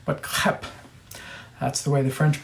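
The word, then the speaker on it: crêpe: spill food who cares okay so um clip pronounced not crepes crap that's the way the French pronounce it and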